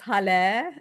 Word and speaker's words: Hale: It's Hale. It's pronounced like hallelujah. Today, actually, all I'm doing